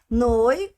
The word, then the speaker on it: noi: Lembrando sempre da pronúncia. Noi fechado. Noi.